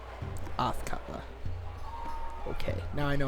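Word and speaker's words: Athkatla: yes that person was assuredly correct this is autler autler okay now I know how to say it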